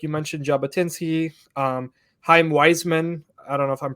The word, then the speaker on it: Chaim Weizmann: of the people, especially like you mentioned Jabotinsky, Chaim Weizmann, I don't know if I'm pronouncing his name correctly, but Chaim Weizmann, that's right.